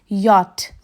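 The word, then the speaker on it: Jot: ہے ہمارے پاس جے، جس کا تلفظ ہے یاٹ۔ اب جے سے شروع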